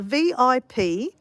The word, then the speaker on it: Vipassana: Look, it's like Italian nearly.